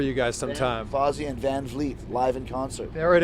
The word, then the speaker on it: Van Vliet: Chris, did you pronounce it Van Vliet? Van Vliet, very close. Yeah. It's like freaking Van Halen, man.